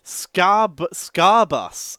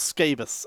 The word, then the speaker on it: Scarbus: Scarbus. Oh, okay. Not Scabus. Okay, Scarbus. Gotcha.